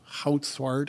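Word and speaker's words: Goudzwaard: I think it was written by Bob Houtswart, if that is how you say it.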